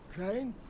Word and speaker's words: Crane: Crane. Crane rhymes with train and brain and sane and grain and rain and plane and the other kind of plane and and can I come in?